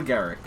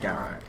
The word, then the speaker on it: Garak: Well, it's similar names, but it's not quite the same because it's more of an A rather than an E. I can't be bothered to pronounce it Garrick.